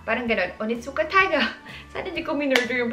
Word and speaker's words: Onitsuka Tiger: Fun fact, minisearch ko kasi kung anong pronunciation talaga niya. Ano pala siya? Onitsuka Taiga. Parang ganun. Onitsuka Taiga.